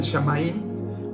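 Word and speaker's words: Samhain: celebraba el 1 de noviembre y que se pronuncia fin de verano, perdón, es el Shamaín, que se dice que es el fin de verano.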